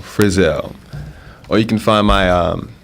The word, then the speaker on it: Frizell: Last name Frizell. Friz as in zebra. ELL. Frizell.